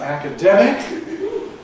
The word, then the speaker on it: academic: Double stressed words like academic when they're in context followed by another strong stress and accent normally undergo this stress shift effect, where it's only the first syllable that gets an accent on it.